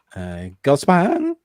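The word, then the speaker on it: Gullspång: It's got a dot on the A, so it's Gulspang.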